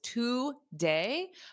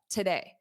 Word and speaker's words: today: We have two syllables, today, but the first syllable is pronounced as a t, today, t. So repeat after me, because native speakers do not say today. Today I'm going. Today I am. We don't say that because that's not the syllable stress pattern in English. The first sound is unstressed in this word. So it sounds like an unstressed today, da da, today, today.